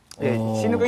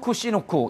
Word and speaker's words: 치누크: 이게 지금 시누크. 이제 치누크라고 한국에서는 발음을 하고 있고요. 미국에서는 이제 시누크라고 발음을 하는데요.